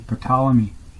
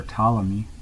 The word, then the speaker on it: Ptolemy: That is in the Venusian degrees according to Ptolemy, or Ptolemy, however you like to pronounce it. I like to put the P in there.